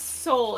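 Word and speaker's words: Seoul: Uh, the name is Soul. It's spelled S E O U L.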